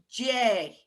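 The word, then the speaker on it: Dé: D, E, fada is J. So Donna and J. So one's a hard D, and then there's where that J sound comes from whenever it's D followed by a gutta keel or a slender vowel.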